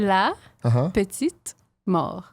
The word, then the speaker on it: la petite mort: La petite mort.